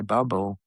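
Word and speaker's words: Barbault: Though given my research on our dear astrologer Andre Barau, the tea is silent. Thank you very much.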